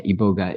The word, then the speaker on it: iboga: about the ioga uh is it iboga iboga I always say iboga I'm not sure how to pronounce it yeah that's the right way yeah iboga there is some people that say iboga but you know um yeah iboga is is the way to say it and if you go